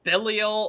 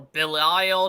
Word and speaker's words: Belial: Like, for those who don't know, Belial or Belial, depending how you pronounce the name, is actually another culture's name for Satan.